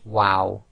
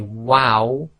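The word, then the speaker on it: و: and when you say wow wow you make a small circle with your lips and it's only the two outer right and left parts of your lips that are actually touching so say wow the next group of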